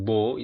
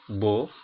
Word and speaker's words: beau: Untuk huruf A dan U, E, A, U, dan huruf O, ini semua dibaca O. Oke. Sekali lagi, A dan U, E, A, U, atau O, itu semua bacanya sama, dibunyikan dengan O.